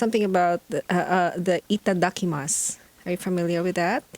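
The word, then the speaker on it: いただきます: it's it is spelled as itadakimasu but the pronunciation is itadakimasu so you take a moment to thank the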